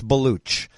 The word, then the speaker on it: Baloch: It looks like Balak, but it's Baloch.